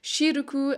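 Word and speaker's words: シルク: pronounced wuru, or for example silk, which is pronounced shiruku.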